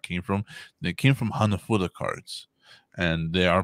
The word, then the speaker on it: hanafuda: from they came from hanafuda cards and they are pronounced it is pronounced weird it's hana fuda like hannah's food yeah yeah and then throw an ah at the end of it just for some attitude